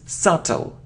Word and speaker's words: subtle: skim schim skim okay it isn't subtle no we don't pronounce it it's subtle subtle it isn't hair or